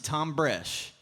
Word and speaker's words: Thom Bresh: said hi my name's Tom Brash and the H is silent like the pee in pool and it took me